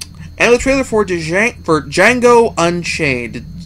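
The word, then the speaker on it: Django: the trailer for for D Jango Unchained the D is silent as the movie lets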